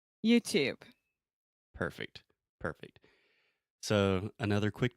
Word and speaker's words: YouTube: Okay, YouTube. YouTube. Perfect. Perfect. So, another quick tip here is that we do not pronounce the E at the end of this word.